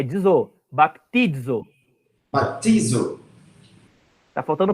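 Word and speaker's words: βαπτίζω: Mas como é que pronuncia em grego isso aqui? Baptizo.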